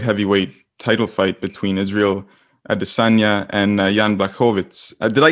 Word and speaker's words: Adesanya: um the the the the real and authentic way to say his name is adesonya i've asked him on air and all that however everyone has remained uh with with uh with arizonia and funny you bring